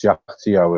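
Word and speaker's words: Kyaiktiyo: named after the reserve it was found the jao reserve although it's pronounced jao it's spelled very definitely it's k y a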